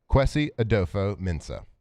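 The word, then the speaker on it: Kwesi Adofo-Mensah: Quesie Adopo Mensa.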